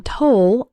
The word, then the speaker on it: toll: The O in toll sounds like in the words know, so, roll, and told.